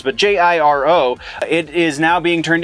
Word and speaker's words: Jiro: Because it's Asian, so it's not a soft J. Don't know exactly how the name is pronounced, but Jiro.